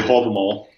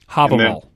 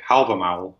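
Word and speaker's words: Hávamál: I would say Havamal. Havamal. And then a lot of other people would say Havamal, which is the modern Icelandic pronunciation. But Havamal is the reconstructed Old Norse pronunciation.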